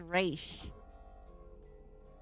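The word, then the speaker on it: Ra's: The Raz is for some reason pronounced Raish.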